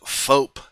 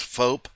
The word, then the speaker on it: Foap: It's called Foap. You see it right here. I believe it's spelled or pronounced Foap. It might be Foap. I'm not real sure, but it looks like the word soap, only with an F, so we'll go with that and call it Foap.